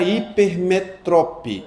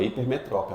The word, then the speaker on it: hipermetrope: E o que é a hipermetrope? Hipermetrope. Hipermetro não é hipermetrópe. A pronúncia mesmo.